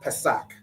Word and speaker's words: Pesach: All right, and the word is Pesach. All right, Pesach, which we all know is the Passover.